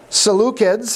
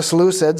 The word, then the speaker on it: Seleucids: from here on out the seleucids or the seleucids that and i've heard it pronounced both ways uh became the kings